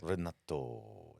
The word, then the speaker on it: Renato: That's how his name is pronounced. Renato, but it's R-E. So Yeah, but it's Italian, so the E makes an A sound. Renato.